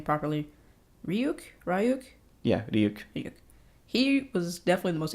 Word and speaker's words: Ryuk: Yeah, Ryuk.